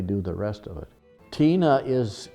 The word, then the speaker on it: Tine: Tina it's spelled T-I-N-E, it's like a girl's name.